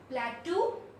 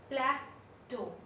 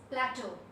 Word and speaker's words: plateau: It is not plateau. How do we pronounce it? We pronounce it as plateau. Plateau. So it's plateau.